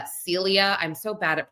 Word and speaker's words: Cilia: There is um Ramon Rodriguez Chen who is a former interior minister and governor obviously uh Celia I think I call her Cecilia. It's uh Celia.